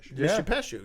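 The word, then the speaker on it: Mishipeshu: right, which is a perfect example, or the Mishe Peshu, is that how you say it? Mishe Peshu, yeah.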